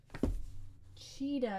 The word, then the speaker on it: Tschida: Okay, I'm gonna look up how to say Shida right now. Hang on a second. Tschida. Oh shoot. The book just fell. Pronunciation. Shida. Okay. Cheetah? Hold on. Sorry. My book fell. Cheetah. It says CHEED -UH.